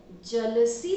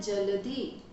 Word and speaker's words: जलधि: फिर जलसी तरंगा गाते हैं, सही शब्द है जलधि।